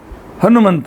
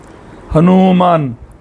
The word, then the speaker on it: ಹನುಮಾನ್: ಹನುಮಾನ್ ಅಂತಹೇಳಿ ಹೆಸರನ್ನ ನೀಡುತ್ತಾರೆ ನಾವೆಲ್ಲರೂ ಬಹಳ ತಪ್ಪು ಉಚ್ಚಾರಣೆ ಮಾಡುತ್ತೇವೆ ಹನುಮಂತ ಹನುಮಂತ ಹನುಮಂತ ಹನುಮಂತ ದೇಶೀಯ ಭಾಷೆಯಲ್ಲಿ ಈ ರೀತಿಯಾಗಿ ತದ್ಭವವಾಗಿ ನಾವು ಉಚ್ಚಾರಣೆ ಮಾಡುತ್ತೇವೆ ಆದರೆ ಸಂಸ್ಕೃತದಲ್ಲಿ ಮೇಲ್ತರ ಮೇಲ್ತೋರಿಕೆಗೆ